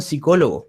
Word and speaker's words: psicólogo: escribe solo con s la p muda se omitió y se borró para siempre la dejamos de lado